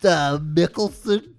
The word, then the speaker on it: Mikkelsen: But you had stuff like Mads Mikkelsen, Norman Reedus. They're huge actors. I don't know if their performance. It's pronounced Mikkelsen.